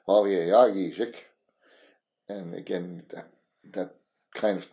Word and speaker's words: Wawegijik: And if you could say that, like when I gave my original family name, it's spelled Wawegijik, English pronunciation. But if you go back and find the original translation, you'd say Wawegijik.